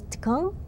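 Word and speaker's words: !Kung: Okay, Tukung, I think I'm saying it right, with this little exclamation point being like a clicking of your tongue, because they speak a language that has clicking sounds in it.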